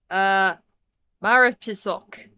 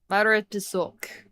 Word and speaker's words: Morepesok: It's the hell is it pronounced? Stupid ass thing. Morepesok. Morepesok.